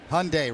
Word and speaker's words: Hyundai: voy takes a strike Hyundai rhymes with Sunday there you go voy